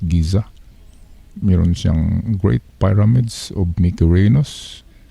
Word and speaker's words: Giza: a commonly supposed egypt that is pronounced giza mirantian great pyramids of megurinos kofo and pinaka